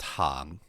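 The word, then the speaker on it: 行: So, however, it can also be pronounced hang. I believe it's second tone. Yeah, second tone.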